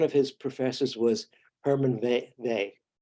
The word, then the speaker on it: Weyl: Okay, while he was at ETH, one of his professors was Hermann Weyl. It's spelled a while, but it's pronounced Hermann Weyl, who was probably the